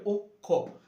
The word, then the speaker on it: অক্ষ: হবে ও এর মত যেমন অক্ষ উচ্চারণ হবে অক্ষ দক্ষ উচ্চারণ হবে দক্ষ অর্থাৎ ও এর মত উচ্চারণ দ এর সাথে একটা ওকে চলে আসছে অর্থাৎ দক্ষ হয়ে যাচ্ছে। লক্ষণ হয়ে যাচ্ছে লক্ষণ আর যজ্ঞ হয়ে যাচ্ছে যোগ্য। আচ্ছা এখানে আরেকটা জিনিস আমাদের খেয়াল রাখতে হবে। খিয়টা উচ্চারণের ক্ষেত্রে খিয়টা যখন উচ্চারণ করব সেটা ক খ এর মত হবে। ক খ ক খ মানে লক্ষণ যেমন অক্ষ অক্ষ ক খ লক্ষণ।